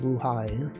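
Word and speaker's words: Blåhaj: What if you went to IKEA and you purchased the blai? That's the name. That's how you pronounce it. It looks like it's spelled blah blah blah, but it's actually pronounced blue high for some reason.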